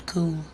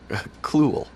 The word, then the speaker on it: Cluel: Did you say his name was Cool? Cluel. Cool, Close. okay. It's got an L in there.